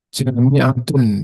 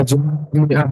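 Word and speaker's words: جامعة: Kalau di awalnya inna sholata jami'atun, jadi itu teks sempurnanya, tapi bacanya inna sholata jami'ah, itu depan seperti malin.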